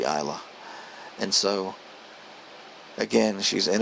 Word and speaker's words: Isla: I'll just say Isla and just leave out the S. It's not Isla. It must be Isla.